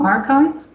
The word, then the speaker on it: arXiv: Most of them are available free online on archives. That's spelled arxiv.